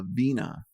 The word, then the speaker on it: Veena: It's just like instead of like Veena. a vino, like a vino lotion, but just Veena. But there are specific Veenas.